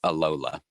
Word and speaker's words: Alola: Moon yeah she is Aloha Regent no alola aren't they Aloha no Aloha is how you say hello in Hawaii yeah well that's what it was the original no the the region is the alola region um is that us